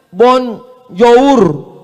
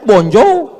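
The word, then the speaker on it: bonjour: Tulisannya bon jowur. Bacanya bonjou.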